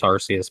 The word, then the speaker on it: Arceus: to pronounce it Arceus it's Arceus by the way princess curtain as long